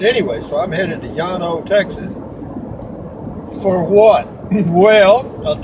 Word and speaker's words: Llano: It's double L-A-N-O, and double L in Spanish should be pronounced Y, it should be Llano. However, the English people that speak and people that live here call it Llano, not Llano like it should be.